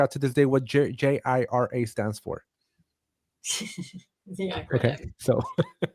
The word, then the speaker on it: Jira: trying to figure out to this day what JIRA stands for. Yeah. Okay. So just letting you know, there's different levels here. That's pronounced Jira, isn't it?